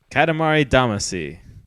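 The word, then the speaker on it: Katamari Damacy: in in a ball Katamari damasi that is close the way it's said in in Japanese at least is Katamari damashi oh D actually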